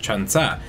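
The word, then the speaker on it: 천사: angel and fun fact in korean the number 1004 is pronounced chanza with chun being a thousand and sab being four and chansa is also the word for angel hence the title 1004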